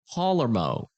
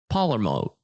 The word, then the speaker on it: Palermo: But Carmen, how do you pronounce his last name again? Palermo. Carmen Palermo. Palermo.